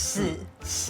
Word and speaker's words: 四: And in Mandarin Chinese, 4 has the same pronunciation as death. So 4. it's 四.